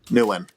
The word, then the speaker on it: Nguyen: So you would pronounce it as if you spelled it Newin. Nguyen.